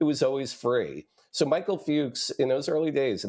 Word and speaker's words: Fuchs: television I really want to be sure Michael Fuchs um and uh who was the am I pr and I'm pronouncing his last name right you are he